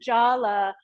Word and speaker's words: jala: So that top one, Jalandhara, the word jala with a long A means a net or a way to like catch or capture something.